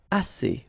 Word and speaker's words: assez: And then assez. Assez means enough. Okay? Assez. Remember, two vowels here, A and then E, and then double S, so it's really strong, the S.